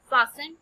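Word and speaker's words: fasten: फासन, बांधा. T silent है.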